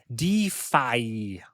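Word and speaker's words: DeFAI: earlier referenced earlier called Defi and the reason why I pronounce it that way is it's spelled d f AI it's def plus AI talking about defi decentralized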